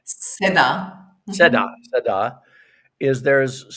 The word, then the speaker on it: Seda: And today, if people don't know this, is Seda, did I pronounce that Seda? Is that correct? Seda.